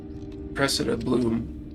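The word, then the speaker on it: Cressida Blume: Someone has been sneaking into the restricted section and Cressida Bloom, that's how you say her name, seems to think of the library as her own personal.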